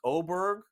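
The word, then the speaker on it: Åberg: but look out folks oberg I know spelled with an A but pronounced with an O looks to be one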